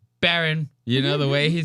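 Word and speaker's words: Barron: Trump talks about his son Byron. And I thought that this was funny as hell, dude. This is so funny. The way or Byron Baron. I said his name wrong. Baron.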